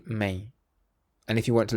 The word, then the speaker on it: mãe: The word m in Portuguese is may my mom is very nice.